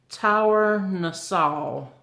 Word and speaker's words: Tournesol: It's a Tour, I pronounce O-U-R, hour. So it'd be Tournesol. And this is it.